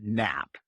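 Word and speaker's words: nappe: has a special name it's called a nap yeah Mr King do you think you can get one across the plate or do you need to take a nap and it's spelled differently from the Sleepy nap it's spelled na P so we've got this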